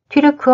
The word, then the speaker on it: 튀르크: 분류되는 중앙아시아 국가들과 께 튀르크 어 사용 국가 기구 ots 를 결성 한 것이다 종 시인 7 탈 공략 원래 발음인 튀르크 를 한국식 한장으로 음 차 한 명 시기 돌